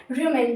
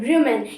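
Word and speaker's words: rumen: उस part of stomach को हम कहते हैं रमन क्या कहते हैं रमन इसकी स्पेलिंग होती है है आर यू एम ई एन रमन इसमें जो ग्रास टंग एनिमल्स है वो अपना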